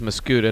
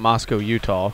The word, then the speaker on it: Mascoutah: rams or lady rams it is mosquito not moscow utah what you've heard other people have said in the past heard it before it's